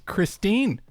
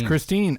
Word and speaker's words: Kristin: know is it Christine or Christine it's Christine it's Christine I'm I'm I'm if I'm wrong I'm wrong but I'm calling it here because okay when I hear other competitors from across the pond say her name yes Christine oh okay they say Christine okay Tatar okay so